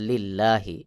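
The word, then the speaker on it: لِلَّهِ: লি লাম লাম জের লিল্লাহি এই লামকে পাতলা করে পড়তে হবে যেমন লিল্লাহি আমি যে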